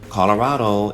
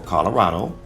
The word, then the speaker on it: Colorado: capital is Denver now Colorado is actually a Spanish word pronounced Colorado which literally means colored and in this case